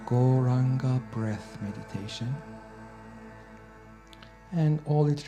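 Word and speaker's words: Gauranga: you what's the potency goranga has four syllables go round on God we are actually now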